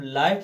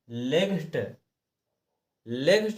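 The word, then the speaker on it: light: रहे हैं तो दोस्तों हम नियम पढ़ कर के जान गए हैं कि जहां भी हमें आई के बाद जीएसटी दिया हो तो हम उसको जीएच को ना पढ़ कर के सीधा को पढ़ते हैं जी एच हमेशा साइलेंट रखते हैं और आई का उच्चार ज का करते हुए और टी को हम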